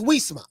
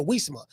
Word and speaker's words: Uisma: Even though it's a U.